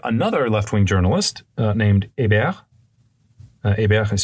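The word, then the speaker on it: Hébert: and that court is sympathetic to his arguments and and to his overall sort of program so morat gets acquitted one month later another left-wing journalist named a Ab is spelled h e b t so like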